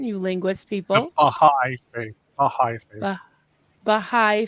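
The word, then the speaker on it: Bahá'í: The founder of, what's the pronunciation, you linguist The people? Baha'i faith.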